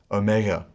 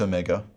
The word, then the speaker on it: omega: the side like that in the erasmus pronunciation this is a long o sound as in tone o tone o in that way it is distinct from the other o sound in the greek alphabet omicron which is a short o in the modern pronunciation however omega and omicron sound virtually the same it's a short o sound ah not o this is omega so bringing it all